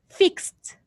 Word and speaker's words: fixed: we add idi but for this verb we read it fixed with t at the end you write edie but